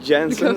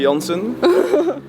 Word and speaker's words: Jansen: Yeah, it's called Café Jansen, Café Jansen.